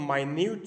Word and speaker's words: minute: तो ये वर्ड आप लोग माइन्यूट देख ले, इसको हम मिनट भी प्रोनाउंस कर सकते हैं। जब हम इसको एज अ नाउन यूज़ करते हैं तो फिर ये मिनट होगा, जो मोमेंट, लम्हा, टाइम